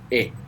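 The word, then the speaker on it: è: Now, this e is pronounced a little bit smiley. So make a smile, and with an open mouth, make e. And there you will get the sound.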